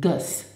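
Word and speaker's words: gëss: Okay, so let's start in the present tense to say ösch gin, okay, and then du gus, and pronounce it gus.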